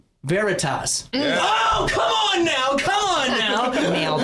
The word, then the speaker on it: Veritas: I even pronounced it right. Veritas.